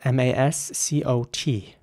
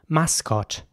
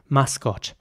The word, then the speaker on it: mascot: next word is spelled m-a-s-c-o-t and again the same principle applies so it's mascot in British English mascot it's actually quite a German way of pronouncing this word I find mascotch and in American English it